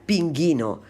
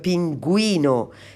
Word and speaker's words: pingüino: pronunciar la y entonces pongo la diéresis dos puntos sobre la u para acordarme que tengo que pronunciar también la uv porque si no